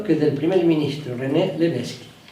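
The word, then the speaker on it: Lévesque: Es el mismo apellido que del primer ministro René Leveski. La única diferencia es el acento agudo en la primera letra E, pero se pronuncia igual.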